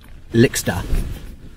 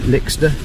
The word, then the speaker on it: Lixda: It's one of the Lixda, I think that's how you pronounce it, Lixda, L-I-X-D-A, I think.